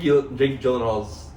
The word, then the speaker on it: Gyllenhaal: Well, Jake Gyllenhaal's name is pronounced Gyllenhaal, and we always say it like that.